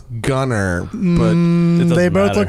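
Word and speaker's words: Gunnar: um from norway but we pronounce it gunner because we're american and it looks it's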